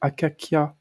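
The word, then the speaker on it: ἀκακία: modernité Akakia puce qu'on on suppose que Akakia c'est la manière de le prononcer en grec archaïque voyez le C acacia euh comme si je disais couronne le C devient un que et donc vous avez Akakia oui mais Akakia ve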